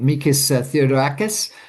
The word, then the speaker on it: Mikis Theodorakis: And uh I'm going to get this pronounce the name wrong, I apologize, but Mikis Theodorakis?